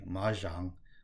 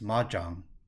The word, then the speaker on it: mahjong: A lot of people say ma jang like the French bonjour, but that's actually not correct. It's ma jam with a hard J like in Jonathan or Beijing.